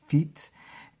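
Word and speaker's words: fête: somebody disappearing or something feet not the feet that man had your feet but that's how it's pronounced a lavish of an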